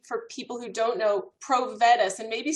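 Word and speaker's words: Provetus: clearly and slowly for people who don't know pro vet us and maybe spell it for people so they can find it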